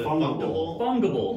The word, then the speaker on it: fungible: Fungible. Yeah. Fungible. Non-fungible token. I don't know how to spell it. I don't know how to pronounce it for real. Fungus, but ible.